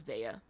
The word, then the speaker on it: Vea: Vea. Yeah, if you ever was trying to figure out how to pronounce my character's name is Vea.